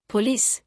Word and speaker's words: police: Police, some say p o lice, stress on p o. Standard, p o l i c e, stress on lice.